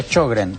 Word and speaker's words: Sjögren: La enfermedad se escribe Sjögren, se pronuncia Sjögren, es sueco.